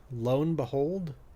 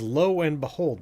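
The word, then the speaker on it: lo and behold: blone behold it's real I don't think that's the right way to say that lone behold is that how that's actually written I don't I think I've only ever heard that spoken I thought it was low and behold but I don't know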